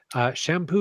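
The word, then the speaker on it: Champoeg: listening to this podcast shampoo he has not spelled the way you would think it is no it's not it's not it's shampoo yeah yeah ch ampo he cheese how it's spelled and I would never ever ever guessed that and you thought will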